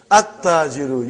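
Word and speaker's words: التَّاجِرُ: At-tajiru. You did not pronounce lam. Why you did not pronounce? Because it is sun letter.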